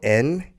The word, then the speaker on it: Nedergaard: So the spelling of that is, and then capital N-E-D-E-R-G-A-A-R-D. That's right. Is that correct? That's right. All right. And then pronounce it one more time.